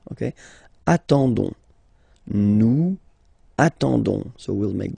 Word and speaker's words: attendons: Okay, but then nous is coming here, all right, and then we've got the classic ending for nous, so O-N-S, okay, you don't pronounce the S, so you get only this on sound, okay. Attendons, nous attendons, so we'll